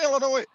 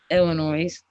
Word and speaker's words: Illinois: no say the St Illinois Illinois Illinois skunk is it not I was taught this I got actually slapped for this is it is the S silent the S is silent I got slap for